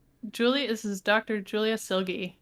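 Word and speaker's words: Silge: out to julius oh yeah how do you pronounce this name julie is his doctor julia silgi silgie that's right silly yup i always want to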